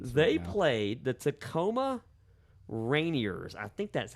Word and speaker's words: Rainiers: They played the Tacoma Rainiers. I think that's how you say it. Yeah, it's like the mountain.